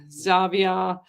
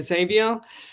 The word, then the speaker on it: Xavier: Um the abandoned and haunted team with Simone, Chad, Zavia, I think that's how you pronounce it. Theresa and John, they were there as well. Xavier. Xavier, is it? Yeah, Xavier.